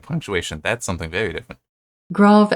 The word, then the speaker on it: grave: that's something very different grav accent okay so it's grav not grave I have heard some